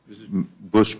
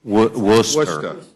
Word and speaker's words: Worcester: Gentleman from Worcester, Massachusetts is recognized. We'll get you to pronounce that right one day. Worcester.